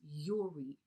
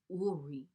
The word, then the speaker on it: Uri: the 221 in the Hebrew, the word is Uri, or Uri is how they pronounce it.